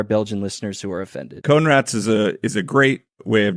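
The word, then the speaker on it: Coenraets: Oh, Jimmy Conrads? Yeah, but it's pronounced. The last name is Conrads. it's like sounds like cone rats. Conrads.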